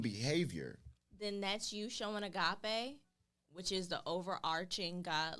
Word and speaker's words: agape: How you pronounce that? It's called agape.